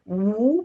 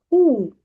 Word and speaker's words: who: It's not woo but it is who not who but the others is what where when what?